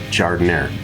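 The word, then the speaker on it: giardiniera: of an italian beef sandwich and that's the jardin air not well i'm not even going to say how people butcher the way the word is said but it is pronounced jardin air jardiner is a vegetable mix there are peppers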